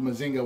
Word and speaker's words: Mazinga: So it was renamed Mazinga here in the U.S., or Mazinga, because in the show, again, it's Mazinger, but they would pronounce it Mazinga. So they just renamed it Mazinga when they brought him over.